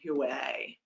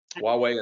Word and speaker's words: Huawei: to get tough on huay which i just ruined the pronunciation forgive me yeah huawei so it's um huawei and zte are the